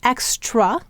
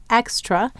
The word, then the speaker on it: extra: broad sound now for those of you who hear the schw sound extra you're correct it's saying the uh or the schah sound and any vowel can say schah in an unaccented cbol the accent is on X extra and we exaggerate that broad sound to give us an